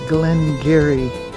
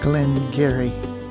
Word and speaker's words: Glen Garioch: The distillery is Glen Garioch, not the way it is spelled, but that is the dialect of the area, Glen Garioch.